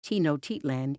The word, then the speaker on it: Tenochtitlan: Foss explained, had someone said Te-no-chit-lan, even though it's not the way we pronounce it. It's phonetically correct, and that would have been acceptable.